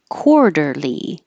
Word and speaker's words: quarterly: an ooh sound soon quarterly this q u is really a KW so round your lips while you're making your K the back of my